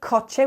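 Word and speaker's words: coche: letter is a say why do we pronounce the word koche with a k and there's a rule around this so the sea before an A A U and an o is like a hard sea so um for example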